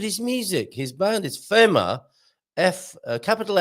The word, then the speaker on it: FeMa: Portugal show will be FeMa. I'm pretty sure that's how he would pronounce it, FeMa, rather than FEMA, as in the American organization FEMA.